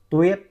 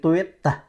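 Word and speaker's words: Tuyết: okay beautiful right okay TW don't say twet no no no TW no TW just and it break it right there at the end of it TW M so TW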